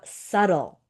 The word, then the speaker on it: subtle: Next word we have subtle. Subtle with a silent b.